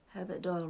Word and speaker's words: Herbert Doyle: Herbert Doyle rhymes with Boyle.